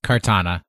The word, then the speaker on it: Kartana: Is that how you say it? Kartana? Katana? Kartana. Like the sword.